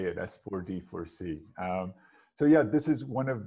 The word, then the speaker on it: S4D4C: So did I pronounce it well, Mitchell? Yes, that's exactly how we say it, S4D4C.